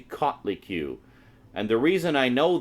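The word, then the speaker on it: Coatlicue: the the cutley q I know it looks like coat li q but it's actually caught li q and the reason I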